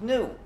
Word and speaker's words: GNU: countless word plays because according to the dictionary the g is silent and the word is pronounced new so every time you